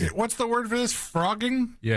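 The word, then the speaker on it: phrogging: The word is pronounced like f R O G, but it's P H R O G.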